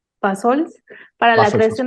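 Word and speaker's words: Bassols: Nos dice, ¿cómo fue la iniciativa de Balsos? Bueno, lo pronuncié mal, Balsols, para la Paso al creación paso.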